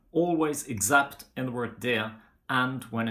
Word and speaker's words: det: We don't pronounce the letter T in the word det, and whenever it's in the neutral definite article of a noun, like for example in huset, bordet, vinduet.